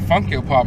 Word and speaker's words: FunkYoPop: And it's, some people mispronounce it, call it Funky O-Pop. No, that's not the fucking name of the Instagram. It is Funk Yo Pop.